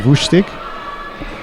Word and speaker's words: Lustig: Pronouncing it Lustig, although if he was from Germany, I'd be saying Wustig.